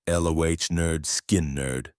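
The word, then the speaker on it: Lynyrd Skynyrd: Pronounced lo nerd skin nerd.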